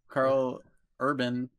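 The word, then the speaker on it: Karl Urban: Carl Urban, did I say it right?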